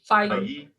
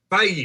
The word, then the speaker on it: Feige: Feige. Feige.